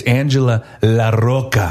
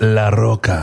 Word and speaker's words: Angela La Roca: It's got to be pronounced with Latin flavor. Well, do it for me. It's Angela La Roca. Okay, will you do that tomorrow on the show? Yes, it's La Roca.